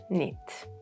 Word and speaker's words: knit: When there is KN, we have a lot of silent K, such as in no, not, knit.